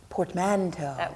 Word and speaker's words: portmanteau: Portmanteau? Portmanteau. What do you think that means, Stacy? Portmanteau. That Look is at her. right. That's the correct pronunciation.